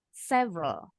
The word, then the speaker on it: several: Samas Yes yang ini huruf e-nya hilang several S hours that's it Well done